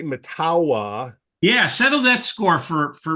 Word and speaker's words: Mettawa: Costco in Mettawa, and my wife and daughters say it's Metawa. What's the story? Metawa. You're right, Metawa? Joe. Yep. Okay. I got it right. I think if you're not, well, how do you say this right? Probably if you're not from the village, then you say it Mettawa real fast, right?